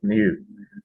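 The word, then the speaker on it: ν: It's not the it's new.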